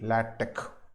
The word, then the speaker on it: LaTeX: even though we are writing l-a-t-e-x it is pronounced as l-a-t-e-k lad tech how do they differ means how do these